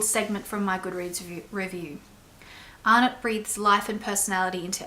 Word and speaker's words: Arnott: is Flames by Robbie Arnott. I think it's Arnott. I hear people say Arnott, but I know that Arnott's Biscuits is Australian, so I'm pronouncing it that way.